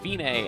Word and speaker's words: Fine: and Forte means loud it looks like fine but it's pronounced femaie and it means it's the end the finish